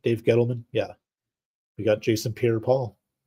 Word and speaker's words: Dave Gettleman: Dave Gettleman?